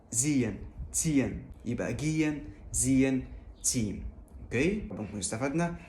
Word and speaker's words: gehen: ديت اوعى تنطق حرف الهاء اللي في النص، لا مثلا ما تقولش جيهن او زيهن او تسيهن، لا دايما حاول تختصر الكلام ده كله واعمل جيان. جيان او زيان.